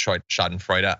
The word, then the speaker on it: Schadenfreude: By the way, people are correcting the pronunciation. Yeah, I am technically aware that it's Schadenfreude.